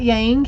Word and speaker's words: yang: cycle and we've got yang here yong actually is pronounced yong yin yang balancing that